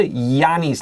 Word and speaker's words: Giannis: This is a Giannis, like yes or yellow.